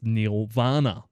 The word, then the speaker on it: Neil Vana: Nirvana was actually meant to be pronounced as Neil Vana.